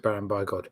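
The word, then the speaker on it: Baron Bigod: case nearest neighbor chief Baron be God by God banned by God by God I mean I haven't heard Johnny and Dulce pronounce it but I would pronounce it Baron by God he sarabande bygone was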